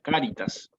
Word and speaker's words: cáritas: variación esta no la misma palabra en latín con acento en la primera en la primera sílaba cáritas cuando pase eso